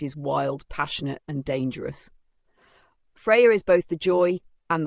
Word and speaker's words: Freya: Freya, pronounced Freya, is one of the most radiant and formidable goddesses of Norse mythology.